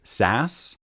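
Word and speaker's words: SaaS: Now, I know that software as a service, that acronym is often pronounced SAS, but I don't hear PASS and IAS that much.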